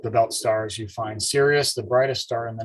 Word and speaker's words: Sirius: brightest star in the entire night sky called sirius but it's spelled s-i-r-i-u-s so what i'd like to do